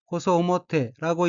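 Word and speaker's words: 細面: 다음 어휘는 한자가 세면이고 각기 가늘 세자와 난면자로 되어 있고 일본어로는 호소오모테라고 읽으며 호소오모테는 갸름한 얼굴이란 의미입니다. 다음 어휘는 한자가 아래 하자이고 일본어로는 사게테라고 읽으며 사게테는 가격등을 내리다, 낮추다, 숙이다는 뜻의 타동사 사게루의 태형으로 사게테는 숙이며라는 의미입니다.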